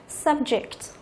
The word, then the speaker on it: subject: Môn học, chúng ta đọc là subject. Subject, ok. Như vậy là danh từ có 2 âm tiết thì thường trọng âm rơi vào âm thứ nhất.